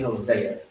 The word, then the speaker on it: Hosea: in the actual bible see some people spell it like this hoshea or jose it's really hosea okay i put that